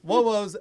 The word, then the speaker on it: Wobos: Wobos, that's how to say it.